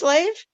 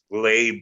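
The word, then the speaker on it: Leib: Just Lave? Labe with like a B sound.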